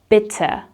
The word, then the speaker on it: bitte: And if someone says thank you to you, you reply with bitte. Bitte, with a short I sound and an sound at the end.